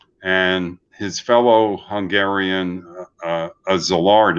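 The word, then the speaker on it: Szilard: their own bomb and his fellow hungarian uh zillard it's pronounced he also came to colombia in the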